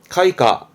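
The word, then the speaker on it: 開花: 발음은 가훈쇼입니다. 개자 했던 거죠? 그치, 꽃이 피는 개화입니다. 카이카.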